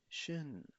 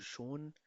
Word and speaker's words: schön: schwer, sei schwer, light, heavy, हल्का, भारी, schon, Schön. schon, Okay, इसको schon, शोन, इसको शोन नहीं पढ़ा जा सकता बिकॉज शोन एक दूसरा वर्ड है, दस इज गांस अंडरस, जिसका मतलब होता है ऑलरेडी.